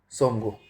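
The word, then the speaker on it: Tsomgo: चोमालू और सोमगो। T silent रहेगा। ठीक है? चोमालू और सोमगो।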